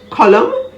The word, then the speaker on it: column: o n i c n is silent if it appears after an m at the end of words like autumn a-u-t-u-m-n column c-o-l-u-m-n him h-y-m-n condemn